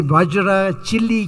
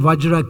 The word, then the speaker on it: vajra: his pronunciation was wrong so he always say vaj chili Kaya K Kaya instead of saying vajra K Kaya he was